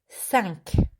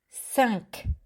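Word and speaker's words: cinq: good next one is sank again it's with your nose thunk sunk i want to have a cure at the end too sunk we have cat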